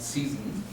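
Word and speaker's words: Zossen: In German, Zesen, in English you would pronounce it Season.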